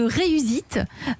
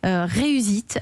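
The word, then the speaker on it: Reus'eat: Vous avez 26 ans, vous êtes le cofondateur de Reusite, qui s'écrit pour nos auditeurs R-E-U-S apostrophe E-A-T.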